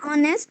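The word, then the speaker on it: honest: N umbrella आ गया बैठ वी से एन ऑनेस्ट person and are because the एच इन ऑनेस्ट एंड are silent ऑनेस्ट is pronounced eight S वंस एंड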